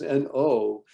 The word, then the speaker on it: know: And if you understand that the letters N-O are surrounded by two other letters, a K and a W. So now, K-N-O-W, how do you pronounce that, Morgan? No. It's a very different no than the no, right?